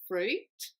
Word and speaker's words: fruit: the word fruit and the reason it's confusing is because sometimes people think they may have to pronounce that I in the middle like in other languages so it's not pronounced fruit or fruit but it's pronounced fruit fruit the next word is the